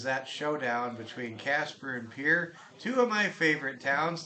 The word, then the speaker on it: Pierre: for somebody I mean Pier of course just pronounced that way it's spelled the same way as Pierre a very popular name